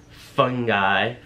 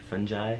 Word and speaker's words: fungi: of nasty diseases, - fungi - fun-jai? Is that how you say it? - Fun-gai. - Fungi. Oh, is it as if you say "fun guy"? - Cause you're a fun guy.